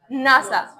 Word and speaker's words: NASA: But how we pronounce the word? NASA, like a real word.